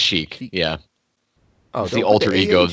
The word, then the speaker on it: Sheik: how to pronounce that is that shika sh Sheik it's just Sheik yeah the ultra ego